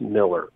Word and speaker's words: Millar: It's AR is Scottish, if you want to know the truth, and ER is English. That's all it is. But they're both pronounced Miller.